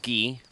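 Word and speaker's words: Guay: the Ocarina let's play I mean it's g-u-a-y I think it's pronounced ghee yeah that's weird anyway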